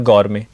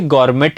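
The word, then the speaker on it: gourmet: जाता है गर मेंे अब बहुत सारे लोग इसे गवर्मेंट बोलते हैं तो गवर्मेंट नहीं होता अगर किसी शब्द के एंड में टी आ जाए तो नॉर्मली उस टी को साइलेंट रखा जाता है ठीक है हां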